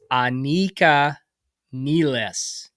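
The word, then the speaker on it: Anika Nilles: By the way, let me give you So, her name is pronounced Anika Nles.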